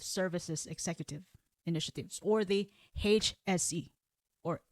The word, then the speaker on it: HSE: Executive Initiatives, or the HSE, or another way of saying this is HSE. HSE. Yeah, HSE, because they pronounce H differently.